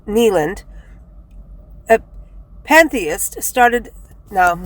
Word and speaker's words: Kneeland: in 1839 Abner Kneeland his name is Kneeland like a knee and k-n-e-e Kneeland a pantheist started no